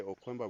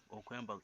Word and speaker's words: Okwemba: No, You just say Okwemba with a K. Okwemba.